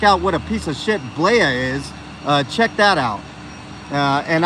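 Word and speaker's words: Blea: the left that's officer blaia it's spelled b-l-e-a i call him uh uh blee the flea because that's what he is he plays for the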